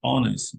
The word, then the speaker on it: honest: consonant sound impossibility in is a vowels a honest mistake was made this is incorrect it should be an honest mistake because the age is silent she opened a count at the local